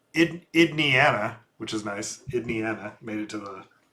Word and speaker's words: Indiana: Indiana made it to the Oh my gosh. Not not Indiana. Idian. It used to be pronounced ID Idian. Yeah, that was the 19th century pronunciation.